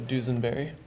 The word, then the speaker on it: Dusenberry: If you see how it's spelled, you basically just pronounce the S with a Z. So Dusenberry.